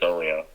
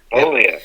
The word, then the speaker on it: Oglio: There's a G in Chris's last name. Is it Oglio or is the G silent? Help me out here. The G is silent, actually, Oglio. Oglio. All right, cool. Oglio, yes.